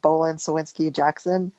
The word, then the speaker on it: Bohlin Cywinski Jackson: I'm a senior associate at Bolan Sinsky Jackson in San Francisco.